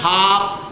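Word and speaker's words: half: हो जाता है एल का उच्चारण नहीं होता ये ध्यान रखना है जैसा हाफ का हाफ भी और काफ भी है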